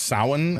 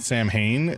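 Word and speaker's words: Samhain: last week, but the fact that this is pronounced sin and not Sam Hayne just kind of blows my mind.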